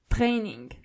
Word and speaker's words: Training: The German version of it is Training. So you only have to roll your R. Training.